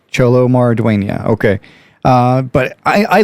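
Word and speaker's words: Xolo Maridueña: people say it and I do believe it is pronounced cholo maradonia so cholo marduena okay uh but I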